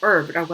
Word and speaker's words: herb: 근데 발음은 herb라고 합니다. herb라든지 아니면 뭐 flower였었는지 뭐 이런 식으로 종류를 얘기를 해줬어야 됐었습니다.